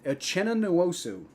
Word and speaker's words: Uchenna Nwosu: He just never had a chance with how do you pronounce Uchenna Nwosu coming right at him.